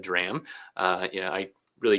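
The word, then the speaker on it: drachm: What's called the drram spelled D R A chm but said drram uh you know I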